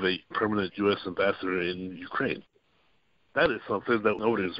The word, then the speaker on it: Ukraine: the other thing is emphasis syllables on Ukraine right everybody called Ukraine when it's just Ukraine the emphasis on the second thousand that's a first so especially in radio I noticed it more so that you hear more is Ukraine than Ukraine the second emphasis is correct otherwise I think the